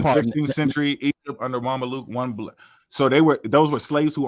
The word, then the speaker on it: Mamluk: In 15th century Egypt, under Mamluk, that's how you say it, Mamluk rule, one black eunuch was appointed governor of Aden, and another was sent on a special mission to his Ethiopian homeland.